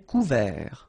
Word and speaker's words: couvert: Un verglas, un ciel clair, un ciel couvert, final T not pronounced.